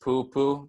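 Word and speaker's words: pūpū: see it normally so poopoo easy enough to pronounce it's just poopoo very repetitive so once more if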